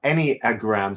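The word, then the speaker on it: Enneagram: e n a but how we pronounce it is any as in any old any old iron um any any uh any a gram so any a gram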